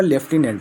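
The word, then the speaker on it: lieutenant: इसका प्रोनाउंसिएशन क्या होगा? लेफ्टिनेंट होगा।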